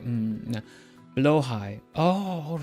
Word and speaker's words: Blåhaj: And I've managed to realize exactly that if you say it in English as blow high, like you just blow some air up high, then you say it correctly.